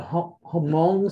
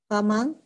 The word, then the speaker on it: Hmong: And when we walked in, it was correct me if I'm pronouncing this correctly or not, the Hmong service. Have you heard of that? Hmong?